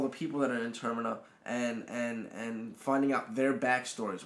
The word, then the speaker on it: Termina: Termina. Think terminal without the AL. Okay. Talking to all the people that are in Termina and finding out their backstories, whereas Pete is going around and he's fighting enemies.